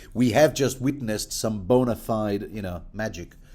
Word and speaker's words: bona fide: We have just witnessed some bona fide, magic. Bona fide, really should be pronounced bona fide. Just saying. Latin being a phonetic language, I think you'll find.